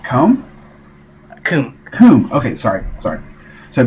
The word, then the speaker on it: Khoum: Bentley, it's pronounced Khoum?